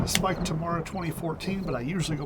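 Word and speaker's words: Spike Tamara: If any of you are curious, my name is Spike Tomorrow 2014, but I usually go by Spike or Tomorrow or Spike Tomorrow. That's how you pronounce it.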